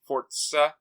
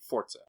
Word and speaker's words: Forza: the r and the Z make the rtz fortza it's fortza is how you pronounce it so um let's see if screen